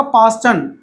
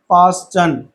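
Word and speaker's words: Paschen: देखो अब आ जाओ, अब आएगा पास्टन, तो 4 से कहां पर आ रहा है, थर्ड पे।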